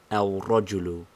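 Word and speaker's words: الرجل: together in el rogelu the lamb of alif lam assimilates itself first of all to the ra and then secondly we think of it and pronounce it as finally the two r's coalesce and we write it al rajulu leaving the lamb standing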